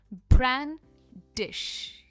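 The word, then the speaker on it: brandish: सबसे पहले इसकी प्रोनाउंसिएशन, ये 2 सिलेबल वर्ड है और जो स्ट्रेस है वो ब्रांड पर है। ब्रांडिश।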